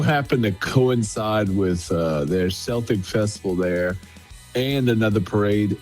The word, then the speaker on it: Celtic: I mean, I would think Celtic Fest, but no, they pronounced it Celtic Fest. Okay. Like the basketball team.